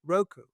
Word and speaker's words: Roku: Is that how you pronounce it? Yeah. ROKU, Roku.